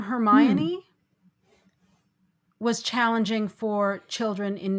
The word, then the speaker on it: Hermione: Rowling actually addressed that in one of the subsequent books when Hermione actually says how to say her name. But the children in the US just saw it and it was Hermy 1.